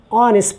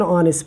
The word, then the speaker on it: honest: m and he is honest person so he is an honest person why because it is consonant basically but it it does not give sound here it is silent here so we start the